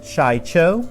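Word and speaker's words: Shii-Cho: the forms back to back here are my pronunciation form one Chacho form to Makka she formed three sorry sue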